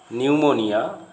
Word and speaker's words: pneumonia: If a word starts with PS, PN, then the P remains silent, as in the following words: psyche, psychology, pneumonia, pneumatic.